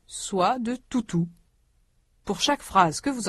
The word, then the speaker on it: toutou: Tante Georgette a un toutou. Notez que les voyelles dans tutu sont très différentes des voyelles dans toutou. Vous allez entendre des phrases qui parlent soit de tutu, soit de toutou.